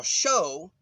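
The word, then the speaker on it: shew: very elect okay uh you notice that i pronounce the e in the word shu s-h-e-w with uh the sound of a long o show is that okay but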